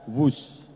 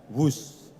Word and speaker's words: Whoosh: Dan kereta cepat ini kita namakan WUS. W-H-O-O-S-H. Dibaca WUS. Ini diinspirasi dari suara yang melesat dari kereta berkecepatan tinggi ini. Dan singkatan dari waktu hemat, operasi optimal, sistem hebat. Sekali lagi, W-H-O-O-S-H, tapi membacanya WUS.